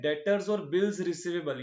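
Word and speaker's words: debtor: तो अभी शुरू करते हैं डेटर क्या होता है भाई? अच्छा ये जो वर्ड है ना डेटर इसमें बी साइलेंट होता है। ध्यान रखना। डेबिटर नहीं पढ़ते इसको। ये होता है डेटर।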